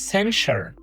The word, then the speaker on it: censure: The second word is: censure Censure means: to strongly criticize someone or say clearly that something is wrong. Simple meaning: It means to strongly say “this is wrong”. Pronunciation: /ˈsen.ʃɚ/ SEN-sher Word form: It can